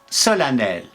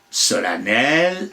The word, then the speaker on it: solennel: même en certaines province depuis on l'a prononcé avec un a en faisant sonner l'EM et enfin on a supprimer tout à fait la prononciation de cette m après tout agripine disait